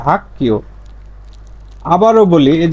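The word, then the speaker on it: 학교: তাহলে এখানে গ না হয়ে এর উচ্চারণটা হয়ে যাবে কি? সাংগিয়কের ক, সাংগিয়কের ক। তাহলে এর উচ্চারণটা হবে হাক্কিও, এর উচ্চারণটা হবে কি? হাক্কিও। লেখা থাকবে এরকম, কিন্তু উচ্চারণ করবেন এভাবে, হাক্কিও।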